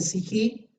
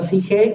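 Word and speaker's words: ψυχή: Esas 4 letritas, dice psijí, se puede pronunciar psige o psique.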